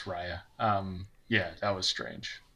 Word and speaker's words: Raya: my mind when uh i'm gonna mispronounce rare or is it ray or raya whatever um the the movie had no music to it yeah it's raya um yeah that was